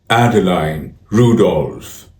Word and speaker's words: Adeline Rudolph: It's pronounced Adeline Rudolph.